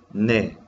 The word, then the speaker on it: 내: Y miremos qué significado tiene, perdón, en coreano pronunciamos ne, Álvaro.